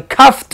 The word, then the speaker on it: coughed: Omito la E al pronunciarlo y esta me suena como T.